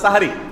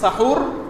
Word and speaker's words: সাহারি: শব্দটা হবে হয় সাহ আর সাহারি। হয় বলবেন সাহুর আর সাহুর বলতে যদি কষ্ট হয় দরকার নাই তাহলে সেহরি না বলে সাহারি বলুনস উপরে আকা দিয়ে দেন বস হয়ে গেল তাহলে বিশুদ্ধ উচ্চারণটা হবে এখানে সেহরি বললে সাহারির